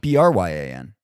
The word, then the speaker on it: Bryan: Bryan.